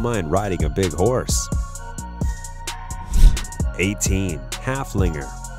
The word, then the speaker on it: Haflinger: riding a big horse Haflinger with a name that rhymes with Gunslinger halfling reserved just as